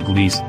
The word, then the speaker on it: Gliese: sydney shows the planet called gliese 486b pronounced gliese is a super earth